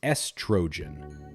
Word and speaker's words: estrogen: The correct way is estrogen. Start with S, then tro, and finish with a soft gen. Together, estrogen. Not estrogen, but smooth and simple.